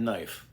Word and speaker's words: knife: Now, look at the word knife.